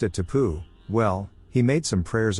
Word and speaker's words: tapu: He pronounced it tapu.